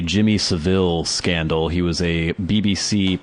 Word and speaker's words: Savile: I think you're supposed to say Savile, even though there's only one L.